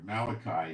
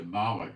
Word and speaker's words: Malachi: send my Malik messenger Malachi is mispronounced it's Malik it means messenger messenger and he shall prepare